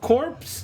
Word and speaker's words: Corpse: He's doing Corpse Corp. It's pronounced Core. Sorry. You don't pronounce the P.